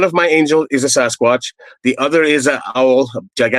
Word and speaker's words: Sasquatch: one of them is Sasquatch. We call it Sasquatch up here. It comes from the First Nations name Sasket, and the people that the journalists couldn't pronounce Sasket, so they were saying Sasquatch.